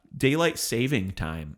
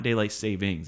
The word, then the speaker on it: daylight saving time: Daylight saving time is the correct way to say it, by the way. Not daylight savings. It's not plural on savings, just singular saving.